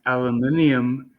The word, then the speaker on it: aluminium: it's aluminium if you're from the UK.